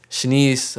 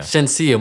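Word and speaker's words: Shenseea: is this girl bam shanice or dammit i keep saying it wrong shouldn't see yeah shenziyah my fault shinseya dated drake i'm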